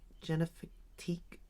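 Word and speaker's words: Génifique: honest their skin care I like the Jif genifique is how you say it skin care I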